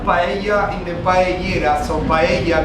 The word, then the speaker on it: paella: So paella guys is the Spanish pronunciation for the name of the food and paellera is the name of the pan, right?